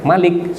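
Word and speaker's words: مَلِك: atau yang punya Malik Malik kalau dibaca pendek dibaca pendek Malik seperti yang di surat an-nas malikinnas itu bacanya pendek itu enggak ada pilihan kalau itu itu tidak bisa dibaca panjang itu hanya bisa dibaca pendek Nah kalau kita baca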